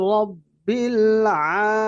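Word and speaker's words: رَبِّ: রব্বিল আলামিন রাব্বিল আলামিন অনেকে অনেকে আমাদের এখানে সবাই মাশআাল্লাহ ঠিক আছে অনেকে বলে রাব্বিল এটা মোটা উচ্চারণ হবে রব্বিল আইন এইযে দেখুন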